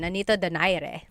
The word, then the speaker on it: Nonito Donaire: So our first poll here is going to be Manny Pacquiao versus Nonito Donaire, or is in the Tagalog pronunciation, Nonito Donaire.